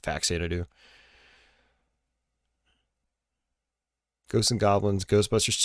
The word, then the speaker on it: Faxanadu: You got Fazanadu, or Faxanadu. I like pronouncing it Faxanadu.